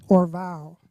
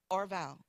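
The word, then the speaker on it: Orvow: on straight me out it's pronounced or vowel I'm like they're like or Val last name first name or vowel on Instagram you say like yeah on my Instagram bio I have it in the bio how to pronounce it um o-r-v-o-w but anyway okay let's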